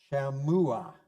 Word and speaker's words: Shammua: There was from Reuben, Shammua. Notice I used a short A because of the double M, and Uah.